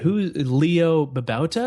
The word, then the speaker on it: Leo Babauta: And it's been covered by everyone from Gina Trapani of Lifehacker to, oh man, Leo Babauta?